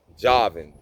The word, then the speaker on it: Javan: Javan, that's how I pronounce it.